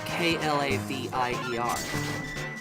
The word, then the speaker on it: Klavier: Is it Clavier? I had nothing for you without being able to see the spelling. It's Klavier.